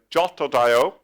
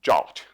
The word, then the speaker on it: JWT: So all the cool kids pronounce JWT, which is JSON Web Token. You can pronounce this jot. Then everybody knows that you're in the know. So if you haven't learned anything else today, you can learn to pronounce JWT jot, and then everybody thinks